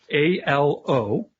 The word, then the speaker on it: Aloysius: I have no idea how to spell that. A-L-O-Y-S-I-U-S.